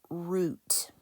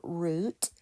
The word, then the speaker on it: route: So let's suppose that we pronounce our word as route. Okay, we know that our route is a pathway. It sounds like root that belongs on a plant. So those are homophones, root and root. If you pronounce our word as route, which I tend to do, this is the pathway.